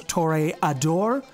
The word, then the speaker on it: Toreador: be the real toriadore some of you may come after me for the pronunciation of this such as torrey adore if you really wanted to throw some smug on that i suppose you could do that too but i'm going to call